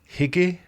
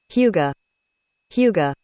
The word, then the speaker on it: Hygge: It's one of those non-English words that you can't really say with an English accent, especially an American English accent. You have to actually adopt the accent in order to say it correctly.